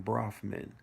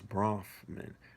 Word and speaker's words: Bronfman: decades earlier by sam brofman the father of mega group members edgar and charles brofman i might be saying it wrong it's bronfman b-r-o-n-f-m-a-n while other north american